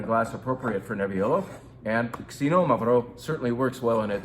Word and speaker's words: Xinomavro: This is not Xinomavro. Even all of my wine vendors call it Xinomavro. It's Xinomavro. Xinomavro. Different emphasis and a different sound at the beginning. Not the Z sound, but kind of a KS.